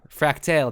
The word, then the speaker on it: Fractale: that that's fractal except there's an e in fractale like it's a tail a story so yeah we talked